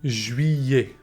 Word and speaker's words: juillet: We say it juillet. Juillet. You can break it down like this. Ju, I, ye. Ju, I, ye. Juillet.